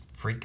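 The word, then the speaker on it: phrik: made out of like freak metal freak metal for rick p h i r k the p is silent dank ferric dank fair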